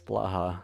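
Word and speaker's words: Blåhaj: pronounce the shark's name yeah it's Blaha it's like Baja Blast yeah how many hoppo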